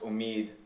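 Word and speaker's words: امید: So words like that would have been pronounced omed come to be pronounced omid, also in Urdu, also in Indo-Persian. And we see this in poetry. You start to get a rhyme, for example, between omid and deed, like saw, something that would have been impossible with the older pronunciation when the majhul vowel,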